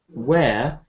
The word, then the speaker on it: wear: This word "wear" should sound like this, but it should sound like chair, wear, or W-H-E-R-E, wear.